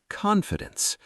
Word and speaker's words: confidence: First, let's talk about the word confidence. CON-fi-dence. 3 syllables.